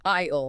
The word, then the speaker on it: aisle: It's pronounced like the word I, then ale, aisle. Aisle.